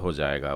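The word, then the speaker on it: הַזֶּה: जाइन में दगेश खजाक लगा हुआ है, तो ज हो जाएगा वो, और ए की मात्रा के साथ में ये हो जाएगा हाजे।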